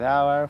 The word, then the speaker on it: our: We like to play with our friends. Our se pronuncia igual que la palabra hora en inglés.